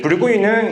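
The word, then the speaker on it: Bourgogne: 이제 붉은이는 이제 불어식 발음이고, 버건디는 이제 영어식 발음입니다.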